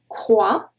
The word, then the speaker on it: croix: Une croix, and a very common one, deux, deux, no X. Well, we don't pronounce it.